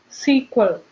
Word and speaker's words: SQL: glance on what is Esquivel SQL that is sequel see you it's pronounced as me ssq movie here it stands